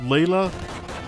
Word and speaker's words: Leila: Oh, I think her name is supposed to be pronounced Leila. You know what? I'm gonna have a look. Leila, FF2. Rest, what's the kanji? No, her katakana is Reira. So it is Leila.